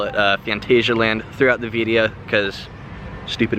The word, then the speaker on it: Phantasialand: rural Germany and short disclaimer it is actually pronounced Fantasyland but you'll probably hear me call it a phantasialand throughout the video because stupid Americans and we